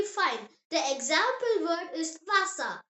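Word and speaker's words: Wasser: German W sounds like English V. Yes, V and W are completely switched around. Just remember that and you will be absolutely fine. The example word is vasa.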